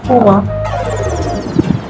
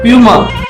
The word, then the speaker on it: PUMA: PUMA இந்த brand பேரை pronounce பண்ணு. PUMA. பூமா. நீ சொல்லு. பூமா. அது பியூமா.